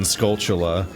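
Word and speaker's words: Skulltula: and encountered the golden scultula and everyone's like, "Wait, oh no, is that how it's pronounced?" And it's like, "Yeah, it's a tarantula, the spider."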